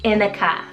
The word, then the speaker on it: Inika: Lastly for I's, I have the sweetest name, Inika, spelled I-N-I-K-A. This one also could be pronounced as Inika if you really wanted to as well.